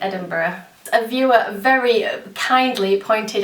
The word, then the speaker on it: Edinburgh: i pronounced it wrong it's muscle burrow like edinburgh a viewer very kindly pointed out for me last episode um that i was saying it wrong and yes it totally is is edinburgh it's muscle bro like edinburgh um because the